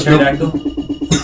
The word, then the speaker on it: pterodactyl: Are you trying to kill a pterodactyl? Yeah. Have to. I never noticed how pterodactyl is spelled funny. Pterodactyl. PT. Ah! Your character, you're Westless. Oh, come on. The P is silent.